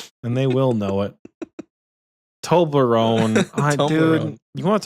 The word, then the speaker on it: Toblerone: Tomblarone. No, Toblerone tomb.